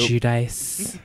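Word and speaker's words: Giudice: Like, she's definitely the Teresa Guidis, or however you say her name, of the group. Judice. Yes.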